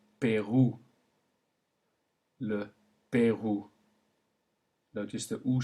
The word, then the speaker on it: Pérou: However, if it combines to make OU, then the sound it makes is OU, as in le Pérou.